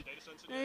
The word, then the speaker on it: Datacentered: How it's pronounced, Datacentered? Datacentered, Yeah, right.